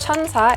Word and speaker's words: SKIN1004: right into it so skin 104 is pronounced chanta in Korean so the number 1004